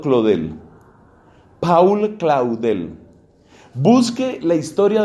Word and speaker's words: Claudel: siglo 20 paul escrito paul se ha pronunciado por paul claudel pronunciado claude el paul claudel busque la